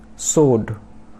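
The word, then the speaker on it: sword: उसके बाद सोड, सोड, तो सोड में W साइलेंट, तो सोड मतलब तलवार।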